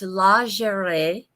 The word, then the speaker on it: lingerie: for about nine years so I will not pronounce it the way the Americans do it's the slaughter so it's lingerie and and it is I think a lingerie